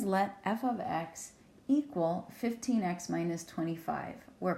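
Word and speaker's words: f(x): So f of x is the name of a function. We talked about this before, and that is how you say it.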